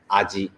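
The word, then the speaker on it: あじ: so if you see this particular kanji all right you know that is pronounced as aji in english is horse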